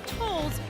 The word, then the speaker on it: Tolles: It seems like her spot on the squad was fate, just like her last name Tolles rhymes with Knowles.